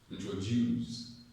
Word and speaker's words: introduce: I've heard some persons say, let's introduce the next speaker. Let's introduce the next. It sounds posh. It sounds, oh, it sounds correct. It sounds sweet. Introduce. Introduce. Let's introduce. But it's not correct. It's introduce. Okay? The traditional pattern is correct. Introduce. Introduce. Introduce. Okay? Introduce. The stress is on juice.